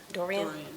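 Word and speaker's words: Doiron: it's spelled D-O-I-R-O-N. Dorian?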